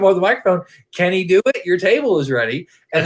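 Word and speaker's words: Dewitt: and and then then as a name can he do it and do it is spelled like d-e-w-i-t-t and then he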